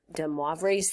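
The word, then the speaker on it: de Moivre: look up the pronunciation, and it's DeMoivre, M-O-I, DeMoivre's theorem.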